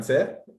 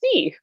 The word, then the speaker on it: Tse: you c say welcome to the dragon boat canada podcast thank you for joining us sorry my last name is pronounced c c oh okay sorry like the letter c yeah okay let's do